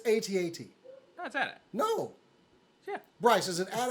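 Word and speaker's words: AT-AT: i'm sorry i said adapt ooh no you do not say it like that you don't say it's accents yeah that's it's a-t-a-t no yeah bryce is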